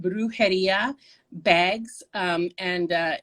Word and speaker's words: Brujeria: um i have an etsy store um it's pronounced brujeria bags um and uh it's b-r-u-j-e-r-i-a bags and